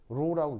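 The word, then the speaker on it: ρ: 그래서 읽을 때는 어떻게 읽냐면 RHO 로라고 있습니다. 영어가 아니고요. 그리스어 알파벳인데 읽을 때 로 이렇게 읽습니다.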